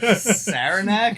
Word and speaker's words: Saranac: We're on a Sarnak here. nothing says. What- I'm sorry. Can you pronounce that beer again? Sarnak. Saranac?